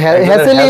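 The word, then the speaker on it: Hassel: হ্যাসেল বলে একজন হ্যাসেল হ্যাসেলই উচ্চারণই হবে হ্যাজেল হবে একজনের হ্যাজেল একজনের হ্যাসেল হ্যাঁ হ্যাঁ হ্যাসেলই হবে কারণ হচ্ছে ডাবল এস এল আছে সো এখানে হ্যাসেল উচ্চারণ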